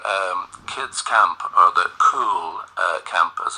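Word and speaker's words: Cúl: kids camp or the cool uh Camp as it's called Uh because it's a GIC word c l uh but it's pronounced uh like the English word cool as in cool for cats uh so that's on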